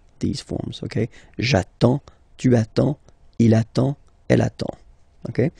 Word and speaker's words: attends: Okay, you get D and S, well, basically you don't pronounce them, okay, and then you get only the sound attends, nasal here, en, j'attends, okay.